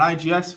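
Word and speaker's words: IGES: they when they were they pronounce it they skip the e but it's called an IGS file that is kind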